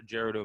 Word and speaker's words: Gerudo: or way out in gerardo valley or gerudo valley however you want to pronounce it or zoro's domain yes